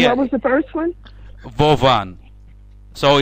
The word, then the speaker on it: Vovan: Their name are Vovan and Lexus. Lexus, and what was the first one? Vovan.